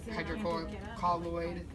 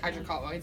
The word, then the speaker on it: hydrocolloid: and we put the hydroponic colloid dressing on it so yeah hydrocolloid back that's how you say it um rather than that